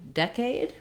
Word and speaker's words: decade: a tense e ear when we go to decade we also have first syllable stress and that red tent vowel just like in second where we have